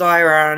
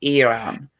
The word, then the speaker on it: Iran: used to be iran it's not pronounced iran it's pronounced iran yeah iran um yeah